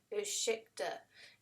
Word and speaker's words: ursäkta: And he says, ursäkta. And so then I go, ursäkta, du har världens måste finaste hund.